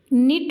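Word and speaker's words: knit: जो word silent है फिर निट है पहला तो के साइलेंट है और डाउट है दूसरा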